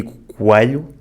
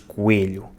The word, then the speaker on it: coelho: I say “coâlho”, transforming the E into a kind of closed A, and Rui from Coimbra says “coêlho”, pronouncing the E as a closed E.